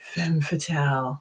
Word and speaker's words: Femme Fatale: You got to say it like that, Femme Fatale.